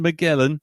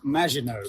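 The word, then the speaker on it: Maginot: No, it's not the Miguelan. It's pronounced Majinino.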